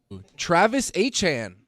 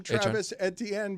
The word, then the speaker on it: Etienne: Travis Etienne, who's now a New Orleans Saint, something or nothing? Uh let's play that sound. Uh, Travis Etienne, uh, we've all called him Travis Etienne, but he is now in New Orleans and